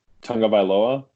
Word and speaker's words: Tagovailoa: I think I know how to pronounce his last name. Tagovailoa? Yep. That sounds right. That's right. That's how Field Yates says it.